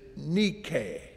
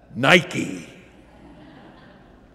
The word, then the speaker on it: Nike: Greek the name is Nikkei Nikkei well that's the Greek pronunciation we pronounce it with a swoosh Nike but in tonight's passage